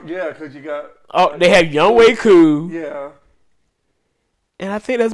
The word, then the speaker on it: Younghoe Koo: So I was like, this man's name is Younghoe Koo. I was like, wait, it's not Younghoe. No. Yo, that's insane. Doggone Chisel Adonis, man. Got me saying this man's name wrong for years.